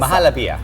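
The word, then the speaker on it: Muhallabia: Mahalapia.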